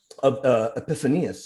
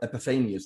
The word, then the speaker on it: Epiphanius: We think of Epiphanius or Epiphanius, depending how people like to pronounce it.